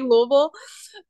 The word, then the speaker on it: Louisville: And then you say Louisville. But I feel like that's like a marker of like you've been here long enough to like say it right.